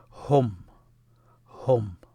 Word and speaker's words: هم: Hum. That's how it's pronounced. It's the ha and the meme. Ha and meme. The way you pronounce them when they're written, hum, ha, hum.